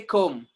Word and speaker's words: comb: Next, comb. Do we say comb? No, we say comb, comb. MB are coming together, B will be silent, and pronunciation will be what?